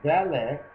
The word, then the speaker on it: valet: It also says, as valet rhymes with Dalet in Hebrew, and Dalet right at the beginning says a poor man.